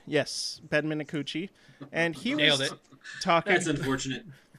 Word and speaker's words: Minakuchi: And I was reading about Alaska Airlines' new CEO, Ben, let's see if I can remember how to pronounce this correctly, Minakuchi? Yes, Ben Minakuchi.